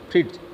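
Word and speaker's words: Fritz: फ्रिट्स को कैसे प्रोनाउंस करोगे आप, फ्री और आधा ट और फिर ज, फ्रिट्स, ठीक है।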